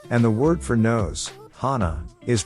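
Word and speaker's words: 鼻: the word for nose Hana is pronounced the same as the word for flower Hana thus according to the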